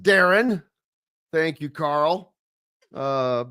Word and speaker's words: Darian: His name is pronounced Darren.